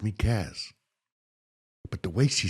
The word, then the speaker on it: Caz: But the way she said it, bro, in the hood, no one could pronounce my name properly. They called me. I'm like, my name's not or.